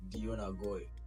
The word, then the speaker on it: Deyon Agoi: It's DEYON AGOI. Can you spell it out? DEYON. It's not Celine Dion. It's not Christian Dion.